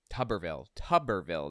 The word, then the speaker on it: Tuberville: Tuberville, that's how it's pronounced. Okay, like bathtub, Tuberville.